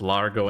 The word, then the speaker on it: Largo: because uh we know it rhymes Largo and embargo.